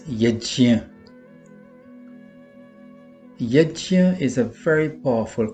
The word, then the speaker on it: यज्ञ: Sometimes Yajna is called Yagna or Jug, but we should be mindful that the correct pronunciation of this word based on the Sanskrit phonetic system, is Yajna.